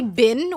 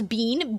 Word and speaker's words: been: Like, Americans say bin when it's bean. B-E-E-N. I always get tilted about this. It's bean.